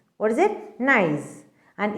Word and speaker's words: gneiss: and its name is gneiss. What is it? Gneiss, and its spelling is Gneiss. What is it? Gneiss. Nice. And it is pronounced as nice. Okay, that G is silent there.